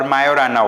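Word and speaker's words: Majorana: Microsoft like you know mazurana one okay or mayorana one so this is how it is pronounced now this is another question uh question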